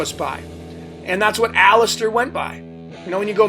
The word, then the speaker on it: Aleister: When you go meet the guy, hi, my name's Aleister. It's Aleister Crowley's professional, but Aleister is the name he goes by. And that's what everybody refers to him by. And it's a 3-syllable word, Aleister.